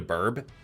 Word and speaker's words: BRB: You also heard burb. Okay, I can understand why burb, BRB, is heard as burp. You guys are fine. I'm just pronouncing BRB. Burb. Not burp.